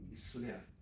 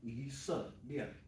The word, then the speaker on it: 以色列: So, again, if we didn't say it properly, it would be islia. But we want to enunciate each time. So, isa, 以色 se, lia, 色列 isa, 以色 se, lia, 色列 isa, lia.